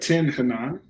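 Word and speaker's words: Tin Hinan: I'm trying, even following the pronunciation, I don't want to get this wrong. But Tin Hanan.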